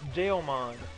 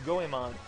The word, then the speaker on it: Goemon: For the longest time, I've always pronounced it Geomon. And to me, that is what it's supposed to be, even though it's Goemon.